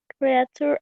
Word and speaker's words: creature: Of which creatures are the most special on this earth? Okay, good. Only the pronunciation of this. Creature, como picture. Eso, chure es como picture, como dibujo. Entonces sería creature.